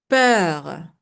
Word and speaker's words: peur: The EU, U is silent, but it has a little thing here. It makes the E long. So instead of saying I will say Okay, for example, peur, to fear. Peur.